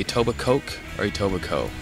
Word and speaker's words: Etobicoke: what do you say aoba Coke or itoba co aoba co even though it's spelled yeah silent k so people are just joking when they say aoba Coke yes they are what